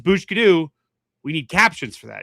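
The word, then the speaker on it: Booshkedo: Oh, so it's it's bushkidu, not Yeah, bushkidu.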